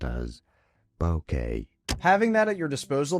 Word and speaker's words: bokeh: Bokeh. In English, it is generally pronounced as bokeh.